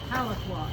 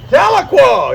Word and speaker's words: Tahlequah: Your uh community of uh Tel, how do you pronounce it? Taloqua. Taloqua.